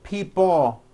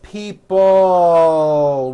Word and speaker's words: people: this last word people it's not pronounced people with your tongue not moving it's people with your tongue slowly moving up and your jaw remaining down stretch out that L sound people like that here